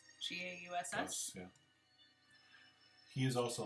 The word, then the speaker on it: Gauss: I'm going to say that last name wrong. Gauss? G-A-U-S-S?